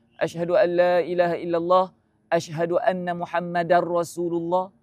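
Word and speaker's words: محمدًا: Asyhadu alla ilahaillallah ashadu anna muhammadar rasulullah. Muhammadar da baris atas. Rasulu jangan tertukar tu.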